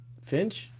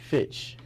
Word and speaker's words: Fitch: Fitch, like Fitch. Fitch. Yeah, but you said Finch, Finch. like the bird.